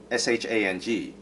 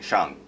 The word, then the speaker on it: Shang: Now, so then you're wondering, okay, it's written Shang, so why is it not pronounced Shang, like they're pronouncing it now? And you know, I give credit to Marvel for trying to make it sound better or more accurate by saying Shang, but that's not correct either, because if you look